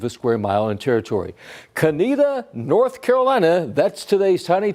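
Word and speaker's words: Conetoe: It's the town of We look at that and you go, "Well, it's got to be Konto." Not right. The town was founded in 1887. It's just south of Tarbor and it's Canita. That's a pronunciation.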